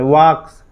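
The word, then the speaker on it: walk: इसको V5 बनाएंगे ना तो एस जोड़ देते हैं, वॉक्स, वॉक्स, एल साइलेंट हो जाता है, वाल्क नहीं पढ़िएगा, वॉक पढ़ा जाता है।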